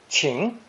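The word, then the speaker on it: 晴: a clear blue sky pronounced second tone ching ching shirar tianjin the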